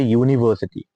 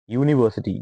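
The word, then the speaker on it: university: starts with a Wavell but because it does not have a Wavell like sound that is व्हाई से यूनिवर्सिटी यूनिवर्सिटी यू कैन नॉट यूज एन why because U यूनिवर्सिटी इट is something like you so this begins with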